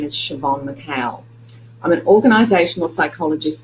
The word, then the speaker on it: Siobhan: bit more about me my first name is pronounced Siobhan which is an Irish name that means Joan in English so my full name is Siobhan McHale I'm an organizational